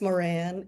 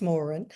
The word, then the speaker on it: Moran: It depends on where you are in the world. In the US it's Moran. In Ireland it's Morin. People uh correct me say I don't know how to pronounce my last name. So, and then other in South America, it's Moran.